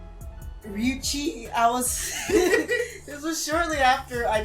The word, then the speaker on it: Ryuchii: The name I given this character was Ryuchi, and that's Chi. That's spelled Ryuchii.